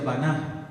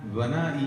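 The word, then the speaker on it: בנה: Hablamos, hermanos, que la definición de la palabra edificar en el hebreo se pronuncia baná, baná, y eso, hermanos, tiene varios significados.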